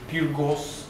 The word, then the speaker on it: Peergos: And is Peergos, that's how we pronounce it, yes?